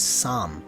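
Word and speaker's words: 三: the word 3 it's some spelled s a am a a means you pronounce it longer and with a bigger mouth so some instead of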